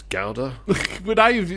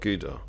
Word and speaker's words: Gouda: You could do giant um I don't know what cheese ga apparently it's pronounced ga not gouda. Oh is it really? If you ask the Dutch they go it's ga it's not good.